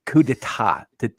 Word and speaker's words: coup d'état: But if you're gonna say a French phrase, like say it right, coup d'état, not d'état.